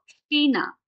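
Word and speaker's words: China: আবার শব্দের শুরুতে যখন সে তেহা বসবে তখনও এটার উচ্চারণ স এর মতোই হবে। যেমন এটাকে আমরা বলবো সেমি, এবং এটাকে বলবো সিনা।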